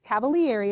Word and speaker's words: Cavalieri: weird kind of name but it's Cavalieri is how you say it it's Cavalier ease principle